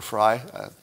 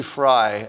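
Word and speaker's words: Frei: also got some pushback from viva frey or frye how does he pronounce his name uh barnes and frye f-r-e-i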